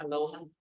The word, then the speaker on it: aloha: that everyone coming says it's a right to pronounce it like Aloha just Aloha yes yes the word